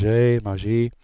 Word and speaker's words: Magi: The Maj Maji is the correct way to say it.